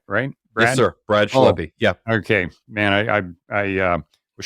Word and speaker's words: Schleppi: His name's Brad Schleppi, and I pronounced that right? Brad? Yes, sir. Brad Schleppi.